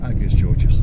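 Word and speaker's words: Άγιος Γεώργιος: Is that pronounced correctly? Agios Georgios. Oh, Agios Georgios, there you go.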